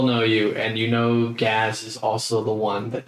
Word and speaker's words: Gaz: This man's name is Gaz. Gaz. Gaz. G-A-Z. Like Gaz. another way to pronounce jazz. Gaz. Gaz. With the G. Okay. With a G.